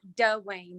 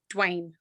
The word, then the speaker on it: Dwayne: people on dwayne yeah it's not dull wayne it's dwayne some people are rednecks